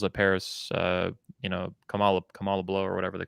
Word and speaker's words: Kamala: uh that you could you could never say kamala it's kamala uh and you're culturally